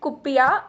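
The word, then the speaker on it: kuppia: ठीक है, there are different ways to pronounce a word but we'll be saying it कुप्पिया।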